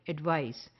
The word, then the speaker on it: advice: is eyes like prize advice and ice or mice like advice so this is one